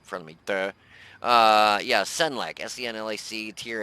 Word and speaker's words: Senlac: Yeah, Senlac.